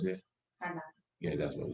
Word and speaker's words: Kandake: The same way as Candace is a title, or Kandake, or how you pronounce it? Kandake.